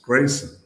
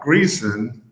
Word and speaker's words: Greason: early on um that our last name was pronounced Grayson. And not Greason, not Gleason like Jackie the comedian from the mid-20th century. But, um gray Grayson.